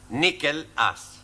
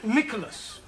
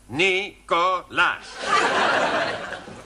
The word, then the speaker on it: Nicholas: Once upon a time, there was a man called Nickel Ass. That's not quite right. No? No. Once upon a time, there was a woman called Nickel Ass. It's pronounced Nicholas.